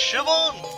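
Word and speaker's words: Siobhan: seal ban is pronounced shivan what a menacing name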